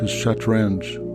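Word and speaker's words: shatranj: After the Arab conquest of Persia, the name changed to Chatrange. Arabic did not have the sounds ch or ng. So the pronunciation was adapted.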